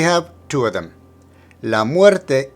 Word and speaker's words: muerte: Muerte needs to emphasize the er. Muerte, muerte.